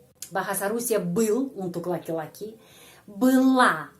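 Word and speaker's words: была: bahasa Rusia untuk laki-laki Bela untuk perempuan belo o diakhiri o tapi ucapannya bila Baa kenapa O diucapkan a karena penekanan pada huruf e bila dan untuk mereka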